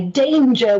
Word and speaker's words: danger: clue for this word the a sound is the letter saying its letter name so d ange er write the